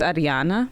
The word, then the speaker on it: Arijana: Is that why the J is a yes sound, so it's Arijana.